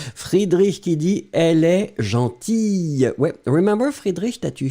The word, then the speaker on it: gentille: And then you pronounce it obviously slightly differently. Gentille, elle est gentille, d'accord?